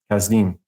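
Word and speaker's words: Kasdim: So it's like a C or a K. So to even transliterate that in English, like C-H-L-D, like Chaldeans, that's wrong. It should always be with the K. So you pronounce it correctly, Kazdim. But if you want to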